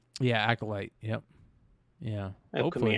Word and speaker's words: Acolyte: Darth cross for the upcoming um because it's pronounced acolyte yeah acolyte yep yeah it open the Accolade Series yeah